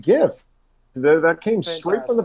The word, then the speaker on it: GIF: He told us it's pronounced GIF.